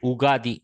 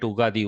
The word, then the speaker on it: Ugadi: In the south, we make it Ugadi. We drop the Y and call it Ugadi, Ugadi.